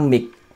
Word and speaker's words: Mijk: Ini adalah versinya Nina Mik. Tulisannya MIJK ya, bacanya ya Mik gitulah ya.